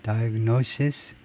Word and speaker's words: diagnosis: 발음의 구별은 단수는 맨 마지막에 S 발음하고 diagnosis, 그다음에 복수는 마지막을 Z 하고요.